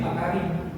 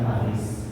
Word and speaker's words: Paris: lanjut saya siap silakan itu bacanya pari bukan Paris pari Jadi s-nya enggak usah dibaca jadi agak semar-sengar diikit